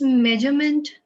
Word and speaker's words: measurement: It's measurement. Okay. Measurement गलत है, measurement ही है. ये देख लो वही वाला ज दिख रहा है ना जो डिसीजन में दिखा था.